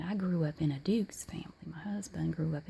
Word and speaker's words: Duke's: I understand that it's Dukes, but you say Dukes. Kind of throw a Y in there.